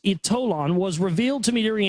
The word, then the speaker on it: Ytolon: The power of Ytolon, it's pronounced Ytolon, was revealed to me during a spiritual hypnotherapy regression during which I experienced life in Atlantis.